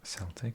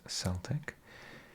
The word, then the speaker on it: Celtic: Club Cody known as Celtic is a yeah not Celtic incidentally it is pronounced with an s because I didn't know